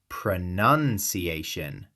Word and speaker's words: pronunciation: It's pronunciation. 5 syllables. Stress on the 4th. None. Pronunciation. The middle is none, like the woman in a religious order. Not noun, like a person, place, or thing.